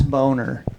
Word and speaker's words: Boehner: There was this senator back in the day named Senator John Boehner, but it was spelled B O H N E R. And I was like, that's Boner.